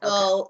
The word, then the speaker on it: Igbo: Igbo, right? I'm sorry? You said Igbo, right? Yes. Yeah, Igbo, okay.